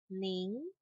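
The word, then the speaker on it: 您: Ni, ni, ni, ning, ning, ning. Oke, ini tulisannya nin gitu, tapi bacanya ada nada G-nya di belakangnya.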